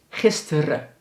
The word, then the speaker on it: gisteren: Maar zoals dus gisteren, dat spreken we eigenlijk uit als gisteren.